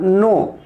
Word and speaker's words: know: बच्चे क्या करते हैं, कनो पढ़ते हैं। तो ऐसा होता नहीं है, के इज a silent meaning, it is read as नोन, ठीक है ना, KNOW।